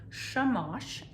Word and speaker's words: shamash: she lit the shamash now that's a hebrew word and i don't know if i'm pronouncing it right but i did see in the book that there's a glossary so i'm going to turn here and it tells me that it is shamash and it is the